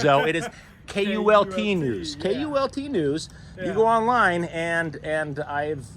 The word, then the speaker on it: KULT: It's not pronounced Colt. It is not pronounced Colt News, though. It is KULT News. KULT News.